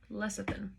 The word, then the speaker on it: lecithin: out the pronunciation of that really quick lecithin pronunciation yeah lecithin i was right lecithin connects the minuscule amount